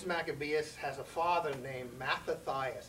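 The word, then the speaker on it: Mattathias: has a father named matathias it's not Mias it's matathias I don't know why they put the extra syllable in it his father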